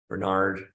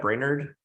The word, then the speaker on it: Brainerd: even been to Minnesota but like Rochester Bernard how do you say that Brainerd yeah yeah but uh this is a really